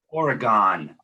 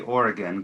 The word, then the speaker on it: Oregon: It's going to sound ridiculous that it's pronounced like this, but it really is pronounced like this. Oregon. You think they would say Oregon because it's spelled like Oregon, but in Wisconsin they'll say Oregon.